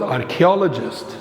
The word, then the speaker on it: archaeologist: 37 we start with archaeologist take care with the pronunciation not AR archaeologist someone who studies objects